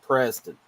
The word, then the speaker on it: Prezztynn: And it's Preston. It's spelled Prezztynn. It's not Preston. It's Preston. Preston.